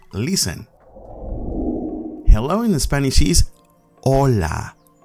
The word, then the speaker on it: hola: hello in spanish is hola do not pronounce the h you do not say